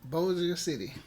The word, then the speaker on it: Bossier City: Bossier City.